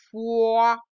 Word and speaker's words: foi: Fait, fuit, fond, fond, foi. Ah, je me rappelle que le OI, ça fait oua, oua, foi.